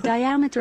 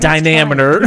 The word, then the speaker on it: diameter: You said it wrong. Diameter, not dynamiter.